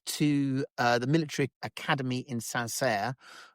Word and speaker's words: Saint-Cyr: He did, and then he went to the military academy in Saint-Cyr. I think that's the correct pronunciation, CYR Saint-Cyr, and then went back to the 33rd Infantry Regiment.